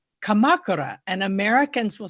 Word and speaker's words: Kamakura: But for instance, there's a famous town called Kamakura, and Americans will say Kamakura, or let's say Hiroshima.